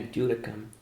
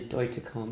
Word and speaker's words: Deutekom: come close because I used to say Christina do to come it's actually boy to comb with with the T pronounced right what would you like to hear